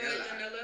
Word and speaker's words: Janela: Joey Janela. Joey Janela, but it rhymes with Vanilla.